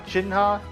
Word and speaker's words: Shenhe: they're going to be on chinha that's how they pronounce her in uh live stream she's a lot of